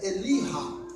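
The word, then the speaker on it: אליהו: Quando você pega a segunda parte do nome Elias, porque em hebraico Elias se pronuncia Eliha, essa segunda parte em hebraico é uma espécie de pronome possessivo, algo que implica posse.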